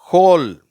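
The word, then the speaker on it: whole: ஹோல். ஹூம். சரியா? இன்னொரு வார்த்தை இருக்குது ஹோல்னு சொல்கிற வார்த்தை. நம்ம துவாரம் அப்படிங்கிறதுக்கு HOLE சொல்கிறோம் இல்லையா? அதுவும் ஹோல் தான். W வந்தாலும் அதுவும் ஹோல் தான்.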